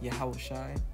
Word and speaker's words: Yahawashi: Joshua you know who which in the Hebrew his name is pronounced yahawashi right um this is